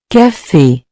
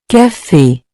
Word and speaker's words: café: This accent gives the E a clear, closed sound, similar to the A in the English word, say.